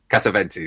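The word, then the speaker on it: Cassavetes: And this is where we get Nick Kazvantes here, if I'm pronouncing his Cavventis.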